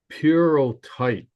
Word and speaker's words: pyrrhotite: And the the word here is pronounced purotite. If you, it's weird. It's like a Greek word, but the first state